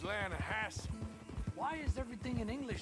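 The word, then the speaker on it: Lannahechee: the other day i rode down to the lana hatchy river i caught some beautiful steelhead trout you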